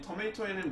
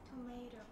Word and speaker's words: tomato: 그래서 이 토마토에는 뭐가 많습니까?